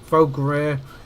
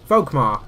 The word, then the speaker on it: Volkmar: And Volgrir is going for... I can't pronounce his name all of a sudden. I've gone all tongue-tied. Volkmar. That's it.